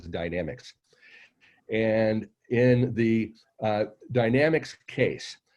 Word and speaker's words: Dynamex: Some call it Dynamex, but I'm told the actual pronunciation is Dynamics.